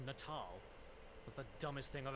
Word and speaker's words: Natal: your children in the head oh wait it's pronounced natal was the dumbest thing I've ever heard I